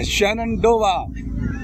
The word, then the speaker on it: Shenandoah: जी हम जा रहे हैं, मुझे नाम याद हो गया, शेनडोआ, सही प्रोनाउंसिएशन सही है?